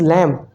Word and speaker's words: lamb: And here we pronounce is lamb, not lamb. Here B is silent, here H is silent.